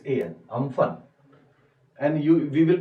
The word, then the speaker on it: Amphan: जैसे एग्जाम्पल लिख लो, इस साल एक साइक्लोन आया, just read about it, cyclone name was अम्फन, इट हैज its an, Amphan, and we will pronounce it as U, Amphan।